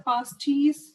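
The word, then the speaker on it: Paasche: उसके बाद आता है पास्टीज, सॉरी स्पेलिंग हो गया, सो it's name is very easy one, पास्टीज, ठीक है। मुझे पास कर दो चीज, पास्टीज, ठीक है।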